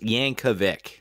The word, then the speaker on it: Yankovic: wrong you're right you're right um it is pronounced yankovic okay anyways the biopics about weirdo yankovic and